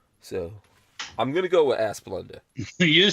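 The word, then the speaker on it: Asplundh: ah splunk are splend the first syllable rhymes with ma second syllable fund ass plund nation's largest utility um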